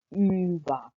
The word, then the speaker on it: über: इसी तरह जो लास्ट umlaut है वो यू के ऊपर दो डॉट्स हैं, यानी कि ü, और आप इसी तरह प्रोनाउंस करते हैं ऊबा। आप ऊबा नहीं कहेंगे, आप कहेंगे ऊबा, यानी कि umlaut की वजह से आपको थोड़ा सा उसके लफ्ज़ को थोड़ा सा लंबा खींच के प्रोनाउंस करना पड़ता है, और थोड़ी सी साउंड भी चेंज हो जाती है, यानी कि एंडान टू